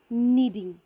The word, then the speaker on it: knead: Process को कहते हैं नीडिंग. ठीक है, नीडिंग, लेकिन द वर्ड स्टार्ट्स विथ के. के साइलेंट होगा, KNEADING. नीडिंग या फिर नीड, KNEAD, नीड.